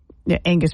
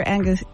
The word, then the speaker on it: Angus: of fund raising Senator Angus Angus King Angus see I even said it wrong there again know the steak's not called Angus yeah I say Angus it's not Angus it's Angus okay still sounds the